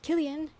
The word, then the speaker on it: Cillian: Today I learned how to pronounce Cillian. Killian. Irish C is always like K.